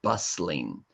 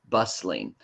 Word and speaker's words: bustling: talked about the word bustling bustling and bustling is kind of a funny word because it has a t in it but the T um is silent so what do you